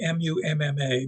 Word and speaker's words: Mumma: And I know on the map that will say M-U-M-M-A, but these are Germans, and that's pronounced Mumma.